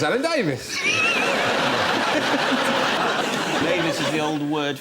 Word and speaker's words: Davies: Doesn't really rhyme with anything apart from Mavis. Unless you know someone called Mavis. Yes. It's Alan Davies.